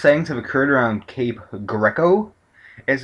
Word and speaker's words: Greco: there um most settings have occurred around Cape Greco as it's pronounced uh it's pronounced with a g r